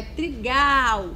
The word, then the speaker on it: trigal: tem sentido então é trigal o Gal é a sílaba tônica dessa palavrinha que você vai pintar